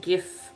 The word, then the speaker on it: gif: Either way, still I I am a staunch gif pronouncer. Hard G all the way and I will not hear any further discussion on the matter.